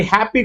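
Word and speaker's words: happy: అలాగే హ్యాపీ కూడా చూసుకుంటే మనకి ఎక్కడ ఫామ్ అవుతుందంటే ఫస్ట్ సిలబల్ మీదే పడుతుంది, హ్యాప్ మీదే పడుతుంది.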